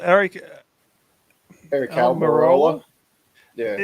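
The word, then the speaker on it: Aric: there's a guy called Eric Eric almarola yeah his first name is spelled a-r-i-c Eric yeah Eric Eric yeah which I think they pronounce it more like Eric yeah Eric Albany yeah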